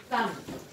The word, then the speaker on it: thumb: 好，写向日葵。太阳花，sunflower。如果字面上是太阳花，那就是向日葵。向日葵，under another syllable， sun， F L O W， love， E R E。Okay， the second line， thumb， thumb。好，来当那大拇指，大拇指。来当 mark，大拇指。The B is silent，不用你就用注音的一个手在一个母。M B M B， B 打叉叉，the B is silent， thumb。Spring，春天是动词。